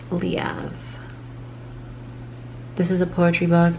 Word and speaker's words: Leav: And yes, it's pronounced Leav.